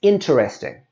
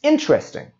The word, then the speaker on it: interesting: is being mispronounced and we can see it's got that middle e there that we don't need so we don't say it's interesting or i will earn interest we say it's interesting that movie was very